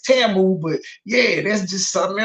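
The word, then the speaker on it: Temu: Niggas like can't handle the truth, been saying it wrong. She been having me running around saying Timu. Every time I heard the white people or the Asian person say it, they say Tamu.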